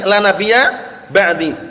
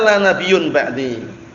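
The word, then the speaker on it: لا نبي بعدي: Ingat-ingat cara membacanya. Jangan seperti orang-orang ahlu bid'ah wad dhalal dari kalangan sufiyun atau yang semisalnya mereka mengatakan kenabian itu masih bisa dicari katanya. Lah kenapa? Buktinya hadisnya la nabiyyun ba'di. Baca nabiyyun, mubtada khabar.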